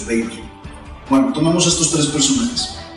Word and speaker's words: Weber: La pronunciación correcta, de hecho, Weber.